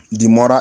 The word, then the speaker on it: demurrer: Demurrer is spelled D-E-M-U-R-R-E-R, demurrer.